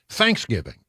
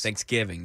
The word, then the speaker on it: Thanksgiving: The other thing, the other holiday that apparently I say wrong is Thanksgiving. The emphasis should be on thanks. Or giving. Well, You're giving thanks. Thanksgiving.